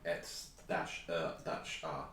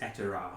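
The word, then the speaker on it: Et'er'a: Is it like Et-R? No, I'm just trying to pronounce it as Et-Er-A, one Et-Er-A.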